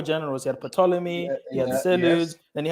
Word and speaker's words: Ptolemy: He had Ptolemy, he had Seleucids, then he had another one. So Ptolemy, the Seleucids. The Seleucids. Thank you. So Ptolemy was running Kemet. Ptolemy, it's a silent P.